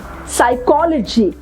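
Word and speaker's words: psychology: S side what else साइकोलॉजी right now हम pronounce कर रहे हैं यहां से साइकोलॉजी हम वी are keeping letter P silent yes साइकोलॉजी सोनिम right again P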